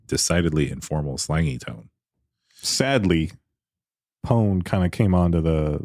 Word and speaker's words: pwned: out and tell you it's pronounced like it's spelled p o n e well in the in